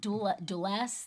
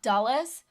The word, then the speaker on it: Dulles: How do you pronounce it? The Duel airport. Dulles. The one in Texas. Dallas. Not Dallas. It's D U L E S.